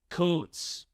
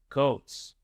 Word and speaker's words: Kuntz: The last name of the German soccer coach we interviewed earlier this week is pronounced Coates. Coates.